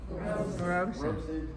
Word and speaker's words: Robson: Robson. I always say Robson. Okay. So does Siri. Because that's how it's spelled.